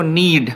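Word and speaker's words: knead: इसमें के साइलेंट रहेगा। पढ़ेंगे इसको नीड।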